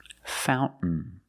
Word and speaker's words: fountain: what did we celebrate Fountain fountain you can say fountain or Fountain both are fine and then I swim